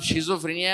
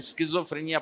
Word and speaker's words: schizophrenia: स्जो फ्रेनिया पढ़ना शुरू किया लेकिन ओरिजिनल ल शिजोफ्रेनिया है तो हम शिजोफ्रेनिया ही लिखे क्योंकि अमेरिकन बच्चे इस बात पर तैयार नहीं थे कि इसमें सी जो आया इसका क्या फायदा साइलेंट प तो उन्होने स्जो फ्रेनिया पढ़ना शुरू किया को स्केड्यूल पढ़ना शुरू किया